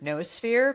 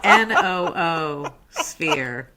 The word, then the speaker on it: noosphere: It's spelled N-O-O, sphere. Noosphere. It was to pick up on, atmosphere, biosphere.